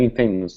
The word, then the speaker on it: infamous: So, So yeah, and the pronunciation is slightly different, and I think it's because we're stressing the first syllable in, and the third syllable mus.